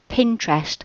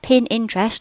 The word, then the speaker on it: Pinterest: keep hearing it that it's pronounced Pinterest a bit like interest but it's p with a p Pinterest not pinin I don't know how many people that say oh are you on pin pter and it just sounds